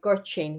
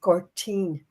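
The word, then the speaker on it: Gortin: Like for instance, the village I'm from is called Girtin. We spell it guard ten. But in the Irish language, it's Gertine. Now gertine. G O R T I for the N.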